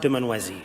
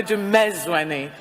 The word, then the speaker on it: Dumezweni: actress and ambassador for the stage supports, Noma Dumanwezi.